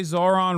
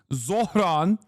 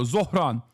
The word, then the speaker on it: Zohran: You say Zohran wrong. Bernie pronounced it better than you. Yes, I know it's Zohran Kwame Mamdani. Okay, I know. Zohran. Okay, Zohran. On Tuesday when he won the primary.